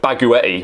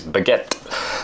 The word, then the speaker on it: baguette: we don't call it baguetti we pronounce it like the French word that it is baguette so uh yeah it